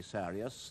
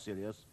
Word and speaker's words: Sirius: star in Canis Major, Sirius. And incidentally, Sirius is a Greek name, not an Arab one, and I'm told it really should be Sirius, not Sirius.